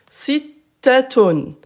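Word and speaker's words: ستة: Citaton. Citaton. Écoutez bien. Citaton. Taton. Citaton. Citaton. À l'arrêt, je répète, ça on ne prononce pas.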